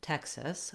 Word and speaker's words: Texas: the state name Texas, we have first syllable stress. So the tex syllable is long and the sis syllable is short and unstressed. Letter E says vowel eh in Texas, and in Texas, the X says the k and s sounds.